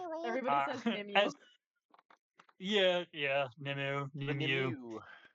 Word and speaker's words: Nimue: Lady Gwen and Nimway of Avalon, which no one would ever pronounce Nimway that way looking at the way it's spelled because it's Welsh. Everybody. Yeah. Yeah. Nimu. Nimu.